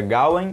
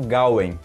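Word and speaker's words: Gawain: pude pesquisar na internet tem duas pronúncias corretas aí que seria galen ou galo em aí mais voltado para o é né eu vou ficar pronunciando galo em mesmo acho que é melhor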